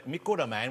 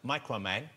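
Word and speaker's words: Microman: Okay, and these come from a Mikuro Man, which we would pronounce Micro Man.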